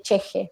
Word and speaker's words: ch'ixi: texto que es el concepto de de de cheje sí que se escribe ch apóstrofe y latina x y latina